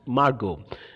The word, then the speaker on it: Margot: And this girl, Margot, you have to pronounce this girl's name as Margot.